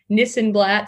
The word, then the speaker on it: Nissenblatt: ma rhymes with Panama uh to help them pronounce it and she does Nissan blat sounds like this and that um so it's